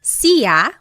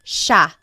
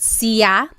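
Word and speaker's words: siya: It looks like it should be pronounced sa, but it's actually pronounced sha sha. There are some regions in the Philippines that might pronounce it sia, but for the most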